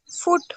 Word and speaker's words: foot: फुट फुट। छोटे ऊ की मात्रा लगाओगी तो फुट लेगा, बड़े ऊ की लगा दोगी तो वो फूड ले लेता है।